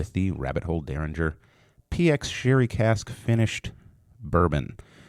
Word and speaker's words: Dareringer: doing this morning dude it's pronounced like Derringer I'm reading this right